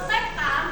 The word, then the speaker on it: sekan: Kalau sekan ini tulisannya sek, bacanya sekan ya.